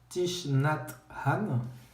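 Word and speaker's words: Thích Nhất Hạnh: j'ai corps sont mais je prononce à la française thich nhat hanh qui est plusieurs livres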